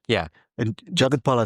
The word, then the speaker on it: Jagathpal: And Jagathpal, I said it right.